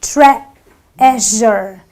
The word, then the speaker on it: treasure: a sound so I say trure the E is silent in this word so I say treasure Tre J it's not Trier you know it